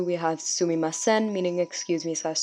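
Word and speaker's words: すみません: So sumimasen, again for the pronunciation. I remember when I was around 2 or 3, I would try and repeat these syllable by syllable, so I hope you guys do that as well.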